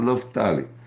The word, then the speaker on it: Naftali: A pronúncia correta, Naftali.